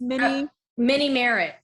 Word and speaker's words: Minimerritt: It's Minnie Merritt. That's my last name. Minnie Merritt. It's M-E.